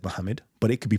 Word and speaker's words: Muhammad: could pronounce it Mahmud you could pronounce it Muhammed right right and that would be the answer it could be pronounced either of these ways either of these ways the scholars okay have said Muhammad okay the scholars have